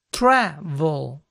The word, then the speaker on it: travel: Para el estadounidense aquí primero el verbo no tiene la situación en la última sílaba, sino en la primera travel.